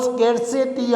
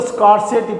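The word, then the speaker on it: scarcity: नहीं, there is नो स्केर्सिटी of food in Pakistan. Viewers ये pronunciation जो है स्केर्सिटी, बेशुमार लोग इसको स्कार्सिटी पढ़ते हैं। No, that is wrong, incorrect pronunciation. Correct pronunciation is स्केर्सिटी।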